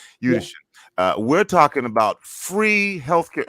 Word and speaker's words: Udashen: Did I say it correctly again? You did. Udashen. Yeah. Udashen.